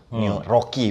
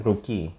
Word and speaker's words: Rookie: New Rocky berarti kan? Rookie. Dibacanya Rookie ya? Iya kan Double O ya?